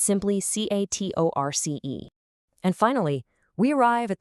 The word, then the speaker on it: catorce: 14 is catorce, C-A-T-O-R-C-E, pronounced catorce. Now, you might notice it sounds a tiny bit like the number 4, cuatro, but look at that highly specific spelling.